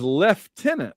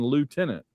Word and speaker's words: lieutenant: Rush refers to Lieutenant Scott as left tenant, the proper British pronunciation. Suddenly, toward the end of this episode, he starts using the American pronunciation lieutenant.